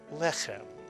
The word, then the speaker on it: lechem: to accent a word, if the word is not accented on the last syllable, as most Hebrew words are, some prayer books and some texts actually indicate where the accent goes with this vertical line, telling you that the accent is on the first syllable, lechem.